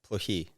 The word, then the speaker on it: Plokhii: It's Plokhii. Plokhii, Yeah. Ukrainian.